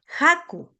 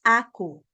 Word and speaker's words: haku: Haku es harina. Haku también. Aquí tenemos dos sílabas. Entonces, jampi, perdón, ja no es aku, aunque también dicen aku, no hay que decir que tú estás equivocada porque hay una variante norteña, si no me equivoco, dicen